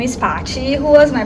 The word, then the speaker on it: Paty: little better yeah uh well my name is Pachi who was my pronounce Shar and I was actually born and